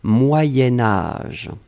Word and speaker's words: moyen âge: alors moyens moyens4 sion quand on va le blier avec âge on va faire ce petit modification de prononciation on va dire moyenne moyen-âge d'un c'est pour ça que vous avez peut-être entendu moyenne mais en fait on écrit moyen moyen âge va être prononcée moyen-âge d'accord allez ce troisième